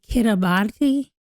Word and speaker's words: Kiribati: So maybe that's just the way they say the language in Kiribati is, and I guess it should be Kiribati because the R's are being pronounced like they do when you're speaking Spanish and probably other languages.